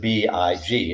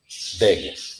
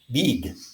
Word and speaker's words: big: But for example, the word B-I-G is pronounced big. That's a short I sound. It is not pronounced big, which is how many Spanish speakers pronounce it.